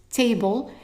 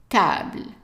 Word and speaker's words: table: And in English is table, but not in French because the A is pronounced as an A sound. So instead of T, it's ta. Table.